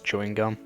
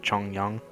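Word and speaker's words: Chongyun: Is it bad that my first instinct was to pronounce that as chewing gum instead of Chong Yang?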